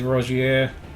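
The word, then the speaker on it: Rogier: really need it um I was happy with Rozier that's the thing that's how you pronounce it so we've with with Margaret I've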